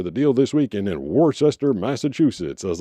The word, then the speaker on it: Worcester: tons of towns out there that are just pronounced super weird. Like w o r c e s t e r and it definitely sounds like or looks like Worcester, but that town is Worcester if you're from there.